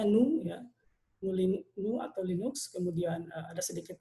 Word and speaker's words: GNU: kita akan membahas mengenai KMU atau sebetulnya dibacanya nu nu nu atau Linux kemudian ada